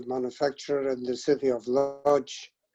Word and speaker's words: Łódź: your family's neighborhood in, I'm going to pronounce it Łódź, I'm not sure if that's right. That's correct.